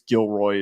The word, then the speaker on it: Gilroy: By the way, not to correct you, but I believe it's Gilroy is the pronunciation there.